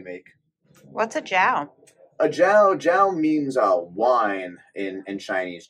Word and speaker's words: Jiao: A jiao, jiao means wine in Chinese. Jiao, it's actually pronounced.